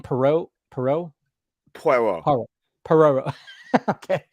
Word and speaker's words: Poirot: Poirot. Perot. Okay. Poirot. Well, you get a little. It's not Ross Perot. Yeah.